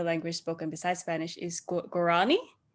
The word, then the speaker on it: Guarani: spoken beside spanish is gurani is that how you say it yeah guarani which is also their currency so that's the name of the currency as well yeah so like um so for us